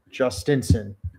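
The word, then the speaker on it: Jhostynxon: I got the pronunciation guide. It's Justinson.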